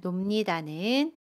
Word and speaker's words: 놉니다: 동사 놀다에 비읍니다가 결합한 놉니다는 놉니다 라고 발음해요. 받침 비읍을 미음으로 바꿔서 발음합니다.